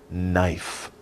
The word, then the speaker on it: knife: this is a knife be careful about the spelling it's not knife andeo it's knife knife the k is silent shh don't say the k it's just knife but we spell it